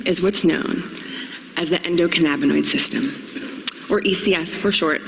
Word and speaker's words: endocannabinoid: Endocannabinoid. Endocannabinoid. Endocan. Louder, Portland. Endocannabinoid. Endocan. Masterful. Yes, thank you. So yes, ladies and gentlemen, this secret system is what's known as the endocannabinoid system, or ECS for short, so if I